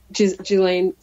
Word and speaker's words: Ghislaine: Ghislaine, yes. Ghislaine. S is silent.